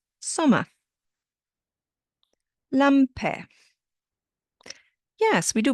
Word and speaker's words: Sommer: But again, the ER at the end sounds like a. Sommer.